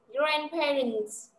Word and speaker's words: grandparents: Bây giờ nhớ cho cô cái từ này, grandparents, do chữ cuối là chữ T nhá, nên là S ở đây phải đọc là S, được chưa?